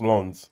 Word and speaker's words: Lens: They called it they called it they called it Lens, man. It's written like that, but it's pronounced Lans.